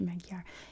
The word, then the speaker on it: Magyar: commemorating 1,000 years of Magyar occupation, which I'm pretty sure that's not how you say it in Hungarian. That's how you say it in English, Magyar.